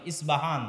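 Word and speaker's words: اصفهان: আমরা প উচ্চারণ করি ইস্পাহান, আরবিতে এটা উচ্চারণ হয় না। আরবিতে হয় আল আসবাহানি, বা উচ্চারণ হয় ইসবাহান বা আসবাহানি।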